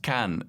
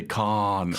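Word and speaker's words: Caen: instance like can in france the town is pronounced can in french but americans will say khan because they think it's like the wrath of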